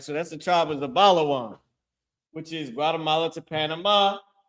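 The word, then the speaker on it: זְבוּלֻן: How you say that in Hebrew is Zabalawan.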